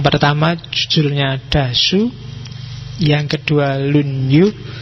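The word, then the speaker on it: 論語: Yang pertama judulnya Dasu, yang kedua lunyu. Bacanya misah ya kalau disambung jadi lunyu. Y kalau lunyu licin.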